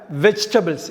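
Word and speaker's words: vegetable: இந்த வெஜிடபிளில் அந்த விஇஜியில் ஜிக்கு அப்புறம் உள்ள ஈயை உச்சரிக்கக்கூடாது. இது மிஸ்ப்ரொனவுன்ஸ்டு வேர்டு, தவறாக உச்சரிக்க நம்ம வெஜிடபிள்னு. சரியான உச்சரிப்பு என்னென்னா வெஜிடபிள். சரியான உச்சரிப்பு வெஜிடபிள். ஈ வந்து சைலண்ட், காய்கறின்னு அர்த்தம்.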